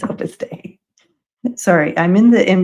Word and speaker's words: Opus Dei: Yes, I think that day, pronounced day, Opus Day. Thank you. Of course it is Opus Day.